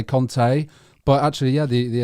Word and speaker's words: Conte: a lot of people say actually i say kante but actually yeah the the italians would say conte and a lot of but i've heard a lot of italians pronounce it like that um but yeah so